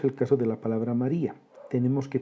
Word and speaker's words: María: Veamos el caso de la palabra María. Tenemos que pronunciarla correctamente. Si lo hacemos, vamos a verificar que la palabra María se descompone en tres sílabas.